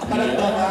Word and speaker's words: Panagbenga: diyan magalit sa atin Panag banga Panag banga oo yun yung right pronouncation Yes Rey ng pistahan